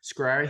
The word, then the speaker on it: Schrier: Schrier is the last name, but Okay, it's Schrier.